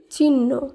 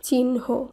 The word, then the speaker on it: চিহ্ন: অনেক সময় আমরা বলে থাকি চিহ্ন, কিন্তু সেটি সঠিক নয়, শুদ্ধ উচ্চারণ হলো চিহ্ন।